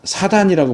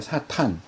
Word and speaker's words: 사탄: 여기 사탄이라고 하는, 이제 우리 개역 성경은 다 사단이라고 번역했는데 왜 사단이라고 번역했는지 모르겠어요. 히브리어 발음도 탄이 맞거든요. 사탄. 헬라어도 발음이 사탄인데 희한하게 그걸 사단이라고 이렇게 번역을 해놨는데, 히브리어 사탄을 음력한 거예요.